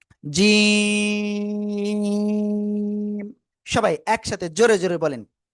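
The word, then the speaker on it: ج: জিহ্বার মধ্যকান তার বরাবর উপরে তালুর সাথে লাগিয়ে এটা তিন আলিফটা নিয়ে উচ্চারণ করব। জিম সবাই একসাথে জোরে জোরে বলেন।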